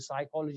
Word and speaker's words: psychology: For example, when you say A, B, C, for example, for the psychology, you're not pronouncing the PPs a silent letter.